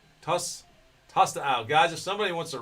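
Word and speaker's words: Tostão: All I can think of is Tostitos, but it's Tostao. Tostao.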